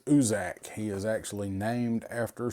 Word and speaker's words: Ucczajk: Now, I had to ask them how to pronounce the name for this guy, and it's told me it is Usuzak.